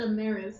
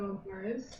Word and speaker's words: Amaris: You said Ammeris instead of Amaris.